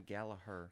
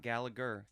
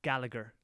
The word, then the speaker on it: Gallagher: gatherer and his lost treasure very dope captain gallaher yeah captain gallaher i mean not gallagher gallaher okay people in england pronounce it gallagher like liam gallagher and noel gallagher you know